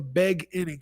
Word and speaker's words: The Beg Inning: An artist named Fliz, The Beg Inning. An artist named Fliz, The Beg Inning. It looks like it's beginning, but it's not.